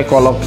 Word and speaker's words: Golok: Sedangkan pelafalan Sungai Kolok ini menurutku mungkin karena aksen dari orang Thailand yang melafalkan Sungai Golok itu terdengar jadi Sungai Kolok.